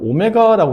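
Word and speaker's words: ω: 이게 w가 아니고 오메가라고 있는 그리스 소문자인데 오메가라고 읽어요. 그 읽을 때는 오메가.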